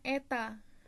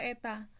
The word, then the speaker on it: eta: Nih, koefisien viskositas disimbolkan dengan ini, seperti huruf N dibacanya eta. Dibaca eta.